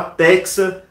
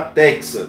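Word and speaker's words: Tecsa: de alergia ambiental da Texa Laboratórios, esses dois testes, tá? Pode fazer esses dois testes, tem vídeo aqui no canal. Texa se escreve T-E-C-S-A, T de tartaruga, E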